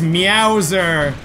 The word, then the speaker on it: Meowser: what that is it's meowser do you get it yeah because it rhymes with Bowser but it starts with me out I guess it's a